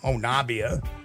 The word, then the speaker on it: Honobia: You may see it as Honobia or Honobia or Honabia. Yeah. But it's actually pronounced by locals as Honabi.